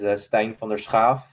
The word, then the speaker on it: Stijn van der Schaaf: The Dutch way to pronounce it is Stijn Vander Schaaf. So of course, with the which is a very common sound used in the Dutch language. Of course, the American language doesn't have it, so there's a struggle.